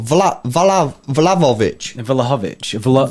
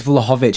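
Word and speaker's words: Vlahović: But how do you pronounce that name, bro? Vlahovic. I think it's Vlahovic.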